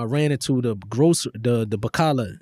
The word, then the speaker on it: bakkalah: And I remember when the police came, I ran into the grocery, the Bacala, not Bacala, that's what we call the stores in Saudi.